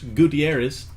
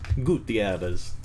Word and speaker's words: Gutierrez: we started it'll go pretty fast seattle mariners gutierrez gutierrez that's how the announcers for race baseball say